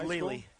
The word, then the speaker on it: Lely: For the blue team, it'll be number 8, Brian Bachman from, is that pronounced Leli? It's Lely.